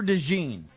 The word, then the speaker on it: DeJean: I'm going to draft the best corner in this draft, Cooper DeJean. Dejan. I don't even know how to say his name. I'm going to guess it's Dejan. It's Dejean.